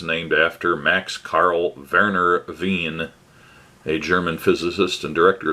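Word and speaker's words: Wien: after max carl verner veen a german physicist and director of the institute of physics uh blah blah and as it is a german name it should be veen so that's the pronunciation and uh once again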